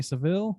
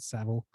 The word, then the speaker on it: Savile: new netflix documentary about jimmy seville is that savile excuse me i think they pronounce it savile um which is a